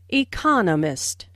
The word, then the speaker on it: economist: Smith is an economist notice the stress on Economist this content word has new information so it is emphasized there are four syllables in Economist with the stress on the second syllable economist he just finished writing